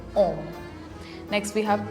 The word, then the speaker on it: homme: Now, H sounds like ash in the alphabet, but in the word, it is silent because H is considered a vowel in French. So, we how will we pronounce this word? We'll say homme.